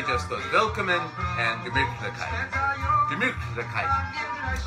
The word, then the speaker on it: Gemütlichkeit: Gemütlichkeit. I've only recently learned that that's kind of how you say it.